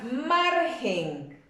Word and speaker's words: margen: Tenemos la palabra margen. Margen no va acentuada, pero sí es una palabra grave por el solo hecho de que su fuerza de voz recae en la penúltima sílaba.